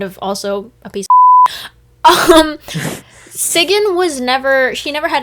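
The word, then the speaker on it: Sigyn: on the topic of loki's wife sigin that's actually how it's pronounced i had to google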